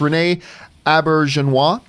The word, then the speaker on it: Auberjonois: better Star Trek shows now I always mispronounce is a last name but it's Renee a birch and wah yeah Rene Auberjonois just recently passed away